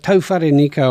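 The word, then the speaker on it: Tauherenikau: be to nico so i'm going to start pronouncing it like that and then people will tell me off so at tofari nico racecourse in featherston over the next three days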